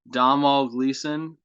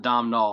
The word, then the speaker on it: Domhnall Gleeson: I think that's how you don't pronounce the N. and I've been told this many times by my friend Valerie, and I don't even know if I pronounced it right that time, but I know that it's not Dom Null.